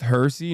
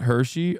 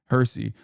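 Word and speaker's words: Hirsi: It's pronounced Hersy, not Hershey. Oh, okay. I don't really care. But all right, good. Thank you. Hersy.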